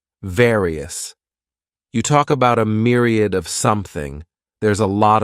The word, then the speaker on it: myriad: the next noun is Myriad this word has three syllables and the stress is on that first syllable Mir sounds like Mir Myriad a myriad is